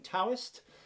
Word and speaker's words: Taoist: somewhere in between it's some people say with a t some people say with the D yeah as long as